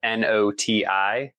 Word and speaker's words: Noti: So I have my uh company is Noai Botanica and Noai is spelled N O TI.